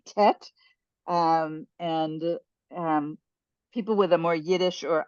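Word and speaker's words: טית: okay um okay so this is the letter tet some people pronounce it te um it's the difference between the spardy um pronunciation and the ashkanazi pronunciation so in Hebrew we in Israel we say tet um and um people with a more Yiddish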